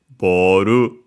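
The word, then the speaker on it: ボール: It's actually ball one of those uh words from English that become unacented in Japanese. So be careful. So boru low high high and would stay high if we added a particle after it.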